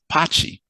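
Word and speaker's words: Pati: And Patricia becomes Patty, which they pronounce as Pachi.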